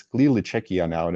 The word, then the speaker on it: Czechia: happy and positively say it's czechia it's pronounced czechia and that learning moment